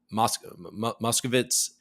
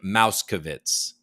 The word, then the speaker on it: Moskowitz: one point asking Armstrong to correctly pronounce uh maybe I should make sure and uh muscovitz instead of saying mauskovitz Armstrong said it hadn't